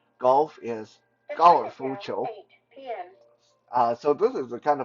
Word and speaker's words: 高尔夫球: So in Mandarin, golf is called 高尔夫球. 高尔夫球. So it's very simple. 高尔夫, basically just how you pronounce golf in Mandarin.